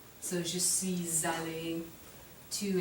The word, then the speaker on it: suis: will happen then is we'll end up pronouncing the S on suis, and I'll make it sound like a Z. So je suis allé.